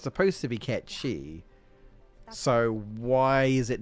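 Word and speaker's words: Cait Sith: I think I mentioned it before, but it's because Ketchi is apparently what Kate Sith is supposed to be, which is based on the, you know, the mythical cat or whatever.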